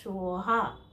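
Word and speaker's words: स्वाहा: দিচ্ছি সেটা ত্রিবিধিয়ান মন্ত্র আমার মন্ত্রে লাস্টে আছে সোহা সোহা সংস্কৃত উচ্চারণে হবে সেটা সোহা ঠিক আছে এরকম অনেক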